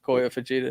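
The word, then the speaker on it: Kyoya Fujita: Kiyoya Fujita. Yeah, Koya Fujita.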